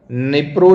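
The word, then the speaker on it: Dnipro: तो आपको याद रखना है कौन सी river, निप्रो river, निप्रो, D silent होता है, बस अपने को प्रोनाउंसिएशन याद रखना है ना, अपने को तो याद रखना है।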